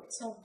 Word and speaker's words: thumb: Thumb. What? Thumb. Thumb. That's good. T-H-U-M-B. Yes, thumb is silent. B is silent in thumb.